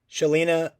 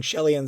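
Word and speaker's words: Chelan: Eli Craig Katrina Bowden Shelina or sorry I was pronouncing that name wrong Shel and Simmons Jesse Moss Travis Nelson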